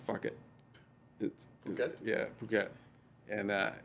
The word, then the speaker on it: Phuket: We get off the ship and we were in Phuket, Thailand, which is spelled fuck it. Phuket?